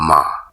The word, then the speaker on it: মা: মা শব্দের উচ্চারণটা আসলে মা বলে একটু মা লম্বা টান দিতে হবে। মা।